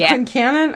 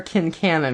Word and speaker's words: Quincannon: Is it Quincannon or Kincannon? Because I've heard both. I think Kincannon's probably Southern, and we're Yanks, so... okay. Yeah. I'm good with that. We pronounce the Q.